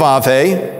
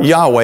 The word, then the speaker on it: Yahweh: not Hashem the name it is you'd have Ave or Yahweh as it's commonly pronounced now today again I want to read